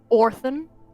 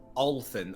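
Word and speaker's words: Olthin: Oran. Is that how you pronounce his name? Just No, it was it was Olen. O L T H I N. Olen.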